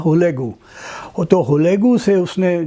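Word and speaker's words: Hülegü: اس نے اپنے کزن جسے ہم ہلاکو کہتے ہیں، اصل میں نام کا تلفظ منگولین میں تھا ہولیگو، تو ہولیگو سے اس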